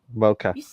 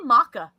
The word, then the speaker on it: mocha: Why do you say maca? Pronunciation. Is this how you pronounce it? Just how you pronounce it in general? Yeah, mocha. Well, I mean, it's M-O, isn't it? It's M-O-C-H-A. Mocha. Okay.